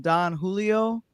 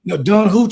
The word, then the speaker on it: Don Julio: gifted with uh some Don Julio tequila. You finally said it right cuz last night you said it wrong. Jay Jay, she was like Don Hoo.